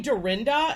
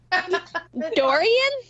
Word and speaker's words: Dorian: couple stories that I was saving so hurricane Dorinda well how do you say her name Dorian Dorian these are not they're not retaining the